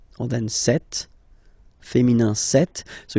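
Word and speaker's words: cette: or then set feminine set so you can notice that phonetically these two are pronounced the same way okay set here and then set here and for the plural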